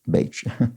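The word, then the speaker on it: Bajcz: You'd pronounce it as Bach, which I didn't. I think I said Batch, perhaps.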